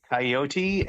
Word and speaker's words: coyote: I really appreciated that they use both pronunciations coyote and coyote in this song yeah that's one of the stands heard both coyote is it I guess I guess they they there's three there's probably more there's multiple accepted pronunciations but yeah I hear